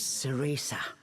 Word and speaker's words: Cereza: Her name was Sesa. That's how you pronounce it.